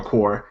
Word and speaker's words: corps: an RC was like no it's core my it's like konel and Colonial whatever the way it's spelled if it's core why is there a p and an s on it how about that speak English I guess they're silent the S is the